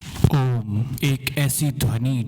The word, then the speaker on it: ओम्: ओम एक ऐसा मंत्र है जो तीन ध्वनि से मिलकर बना है। अकार, उकार और मकार। जब हम ओम का उच्चारण करते हैं तो अकार उकार और मकार की ध्वनि एक साथ मिलती है। जिससे ओम की ध्वनि बनती है।